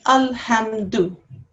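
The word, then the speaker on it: الحمد: these two letters, and how you pronounce this would be al. How you would pronounce this would be ham. So when you put them together in this word, this will be alhamdu.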